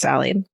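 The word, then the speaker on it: Sali: My great grandmother, Sally, it's S-A-L-I, but then she tells me it's pronounced Sally, was an OG badass.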